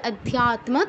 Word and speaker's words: অধ্যাত্ম: অধ্যাত্ম কেউ বলবো না যেহেতু যুক্তাক্ষর উচ্চারণের নিয়ম যে তয় মই দুটো অক্ষর যুক্ত আছে প্রত্যেকটারই উচ্চারণ আসতে হবে উচ্চারণ করতে হবে অধ্যাত্ম তম যুক্ত আছে ত